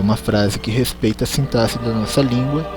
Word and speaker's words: sintaxe: que é a sintaxe primeira pronúncia é essa até sintaxe não é sim táxi sintaxe assentar-se a parte da